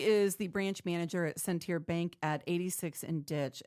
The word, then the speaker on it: Centier: So for people who aren't familiar with Centier Bank, first of all, it's pronounced Centier.